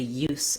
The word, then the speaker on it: use: And in that case, we change the pronunciation, and our letters SE say the S sound, the S, voiceless sound, rather than Z.